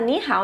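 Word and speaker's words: 你好: para a curiosidade de vocês, né, essa expressão se fala ni hao, esse é o ni de você, esse é o hao de bem, bom, né?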